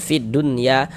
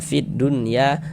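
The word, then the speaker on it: فِي الدُّنْيَا: Berarti yang enggak dibaca dilewatin langsung masuk lagi ke huruf dal ini, gitu. Ee fid dunya.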